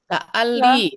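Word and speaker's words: لعلي: la'alli. Ya, kan tambah ya sukun La'alli. la'alli jadi bacanya.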